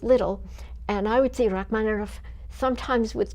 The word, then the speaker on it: Rachmaninoff: And then when I took Russian, I learned that the letter is actually a V, which looks like a B, but it's pronounced as though with 2 F's.